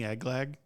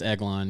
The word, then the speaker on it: Eglon: Oh, is this King Eglag? Like, Close, but am I saying it wrong? Yeah. It's who Ehud killed? It's Eglon, yeah.